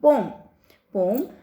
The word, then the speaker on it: poem: 15, इसमें पढ़ेंगे हम पोम. अब आप पोएम नहीं बोलेंगे कोई भी बच्चे, सारे बच्चे पोम बोला करेंगे क्योंकि इसका प्रोनाउंसिएशन जो है अब पोम है.